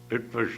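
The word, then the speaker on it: Loránd: was going to ask you beforehand how to pronounce the name of your University lauran lauran uh University in Budapest where he teaches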